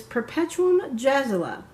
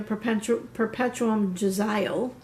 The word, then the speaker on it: Perpetuum Jazzile: of this group and the way you pronounce their name is perpetuum jazzile for a long time I pronounced it incorrectly because I was pronouncing it at the English version the English way I guess I don't really have to yell sorry I was pronouncing a perpetuum jazzile then I started watching